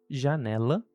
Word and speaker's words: janela: Essas duas letras elas têm sons parecidos e podem ser escutadas nas palavras janela, que começa com J, e gente, que começa com G. E em inglês, você pode usar como referência o S da palavra measure ou o J ou som de J palavra genra. Genra.